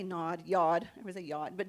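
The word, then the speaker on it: יוד: Yod. Everyone say Yod. It's actually spelled like nod, so you have to say yod.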